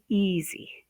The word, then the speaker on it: easy: And last we have easy, easy. The stress is on the first syllable, E, easy.